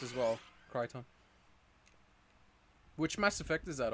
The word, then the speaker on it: Crichton: It's pronounced Crichton. It's a Farscape Mass Effect reference. Oh, okay, Crichton.